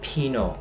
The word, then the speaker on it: Pinot: Thì được đọc là Pinot, mình sẽ bỏ cái chữ T nhé, Pinot Grigio.